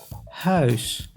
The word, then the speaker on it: huis: U plus I makes ui, like in huis, which means house.